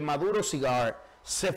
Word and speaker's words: Maduro Cigars: Después de trabajo, usted va a donde Maduro Cigar, se fuma un cigarro y se olvida del mundo. Míralo ahí. Maduro Cigar es Maduro Cigars. Así es que se pronuncia.